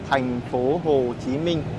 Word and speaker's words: Thành phố Hồ Chí Minh: 5 个发音，越南语是 5 个发音，就 thành phố Hồ Chí Minh 这 5 个发音。